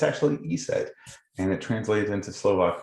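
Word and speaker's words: ESET: you can see on the screen it's not pronounced esset uh or esct some people will spell that out it's actually e said and it translated into Slovak for the goddess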